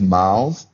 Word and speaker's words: Marles: How do you pronounce your last name for the people at home? Now, look, it is Marles, and people have been calling me Marles, and a little bit of that is my